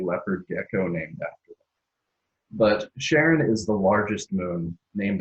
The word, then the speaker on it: Charon: beginning of both so most American English speakers will pronounce it Sharon because you're paying respect